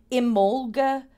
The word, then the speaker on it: Imbolg: So we have Imbolg, is how this is pronounced. It's another way of saying Imbolc. Imbolc, Old Irish. Imolga is Modern Irish.